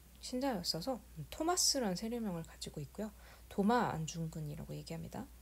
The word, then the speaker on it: 도마: 토마스라는 세례명을 가지고 있고요 도마 안중근이라고 얘기합니다 토마스를 도마라고 발음하는 거죠 그리고 여기 지금 보시면